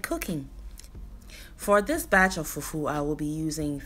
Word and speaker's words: fufu: It's pronounced nasally. So there is fufu and there is fufu. Today we're making fufu.